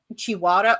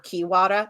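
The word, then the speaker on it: Chiwara: um one group has the chiada or kiwada it's pronounced a couple different ways um but that that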